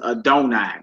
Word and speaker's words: Adonai: When this 4-letter name appears in the Bible, the Jewish practices pronounce it as Adonai.